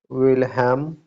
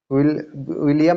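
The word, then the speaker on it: Wilhelm: This story is written by Jacob and विलहेम, विलियम नहीं है, विलहेम है, विलहेलम है, सॉरी, विल क्या गया, स्पेलिंग गलत है, विलहेल्म, ठीक है, विलहेम ग्रिम।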